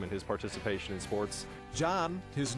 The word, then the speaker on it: Can: in the classroom and his participation in sports John his name is spelled with a see which is pronounced like a J and Turkish came to the u.s.